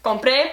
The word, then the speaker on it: compré: copas pagaré te faltó donde están los acentos asegúrate de que ese sea el la sílaba tónica como libre y sale una vez más compre pocas copas pocas copas